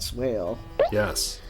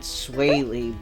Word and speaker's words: Swale: Yeah, that was Brad Swale. Yes. Which I thought his name was Brad Swaley, but the guy said Swale, so I'm like, okay, I guess that's how you say it.